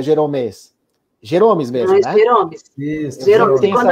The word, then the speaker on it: Geromes: É assim que pronuncia teu nome, Jeromes? É Jeromes? Jeromes mesmo, né?